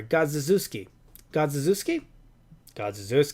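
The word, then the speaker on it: Godziszewski: with riffle rifle and I'm gonna spell it out for you guys G OD Z is ze w s ki gods this key no I'm sorry gods Zeus key god Zeus key gods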